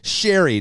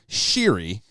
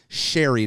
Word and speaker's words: Sheary: have this gentleman joining us here today Connor Sherry not pronounced sheeri as I think a lot of people say